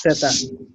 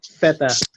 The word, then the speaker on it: zeta: So it's zeta. But if it's in Spain, they say feta. Let's simplify things and do the Latin American thing. Later on, you can build upon it. So zeta. So it's like S. It's like S, and then you pronounce zeta.